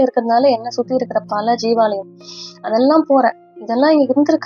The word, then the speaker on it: ஜீவாலயம்: ஸோ இப்படி இருந்த நான் என்ன பண்றேன்னா, ஜீவாலயங்களுக்கு, அதாவது ஜீவ சமாதி அப்படின்னு சொல்லுவாங்க இல்லையா, சித்தர்களுடைய ஜீவ சமாதிகள், அதை ஜீவாலயம் அப்படிதான் ஆக்சுவலா நம்ம சொல்லணும், அப்படிதான் ப்ரொனவுன்ஸ் பண்ணணும்.